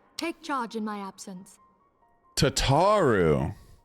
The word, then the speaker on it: Tataru: Tataru. I was calling him Tatu.